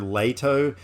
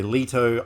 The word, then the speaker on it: Leto: to pronounce his name according to Wikipedia it's Jared leato um some people say Leto I don't know I'm just going to go with Jared Leto because it just rolls